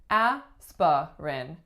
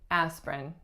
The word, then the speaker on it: aspirin: number twenty-five aspirin aspirin it looks like it should be aa spa Renne aspirin but most people say aspirin she took an aspirin